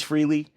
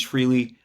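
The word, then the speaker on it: Frehley: Uh I used to just call him Freely, but this last week I've been I my whole life I've called him freely. And then everyone started pronouncing him upon his passing as Freley.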